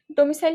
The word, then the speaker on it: ডমিসাইল: ডমি তারপরে সিইসাইল ডমিসাইল উচ্চারণ এভাবেই করলে হবে ডমিসাইল মানে কি বাসস্থান ডরমিটরি